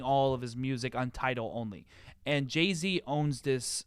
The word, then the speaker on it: Tidal: title is or just kind of leave Tidal, it there? Tidal. Title. Like Tidal Wave. That's how it's spelled.